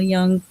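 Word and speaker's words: Jung: just watched a little bit of um Carl Young, right? Did I say it right? Yeah, Carl Young.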